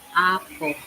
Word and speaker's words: Apo: We where we wanted the food to go was way up on Mount Opo. Am I saying it right? Mount Apo.